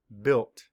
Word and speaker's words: built: Map the sounds. B-I-L-T. Built. Spell it B-U-I-L-T, built.